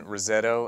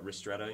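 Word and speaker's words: ristretto: so can you tell me the difference between Rosetto and an espresso shot I've always wondered that yeah RTO you mean yeah is that how you say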